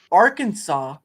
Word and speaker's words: Arkansas: okay so Hot Springs Arkansas I know it has an S at the end but it's pronounced Arkansas the city of Hot